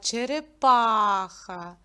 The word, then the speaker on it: черепаха: цьому слові чотири а на який звук падає наголос на а черепаха дітки знайдіть пару вам